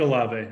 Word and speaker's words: Olave: and actually i like chris alabe or olav helped me with the pronunciation on that one i think a lava yeah yeah i think that's how you say it but i actually